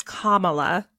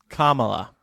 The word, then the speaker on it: Kamala: The pronunciation is Kamala. Kamala.